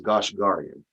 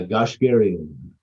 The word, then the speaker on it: Goshgarian: Now, I want to call you Goshgarian, but really the proper way to say it is Goshgarian. Is that how you prefer? Yeah, Goshgarian. Garian, air. Okay, Goshgarian.